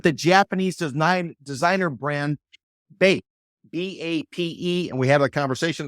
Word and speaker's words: BAPE: The Floridian franchise has announced that they've struck a deal with the Japanese designer brand BAPE, B-A-P-E, and we had a conversation to try to see exactly how to say it because Mr.